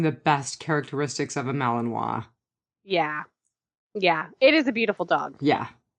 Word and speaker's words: Malinois: Malinois? Is that how you say it? Malinois, yeah.